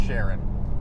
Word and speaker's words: Chiron: Also, there was a Chiron that just appeared for a moment earlier today. It's pronounced Sharon.